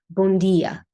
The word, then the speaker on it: bom dia: Like J. But actually, in English, that would have to be D. Like imagine European Portuguese, how they say it, bom dia, right? Or boa noite, or boa noite in European Portuguese, right?